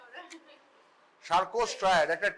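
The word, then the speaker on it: Charcot: আছে সার্কোস্ট্রাট ঠিক আছে একটা টি আছে যেটা উচ্চারণ করে না ফরাসিরা মহা গোলমেলে জাত আর্ধেকের বেশি লেখে উচ্চারণ করে উচ্চারণ কিছুই করে না ওরা সার্কোস্ট ট্রায়ার একটা টি আছে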